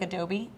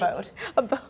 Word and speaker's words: Abode: I want to pronounce it like Adobe, but I know it's Abode.